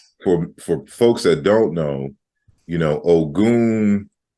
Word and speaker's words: Ogun: And for folks that don't know, O.G.U.N, from the cultural perspective in Africa, is pronounced differently in various different places. In Yoruba, you would say Ogun, and in ancient Kemet, for example, there's a cognate in the deity Sekhmet.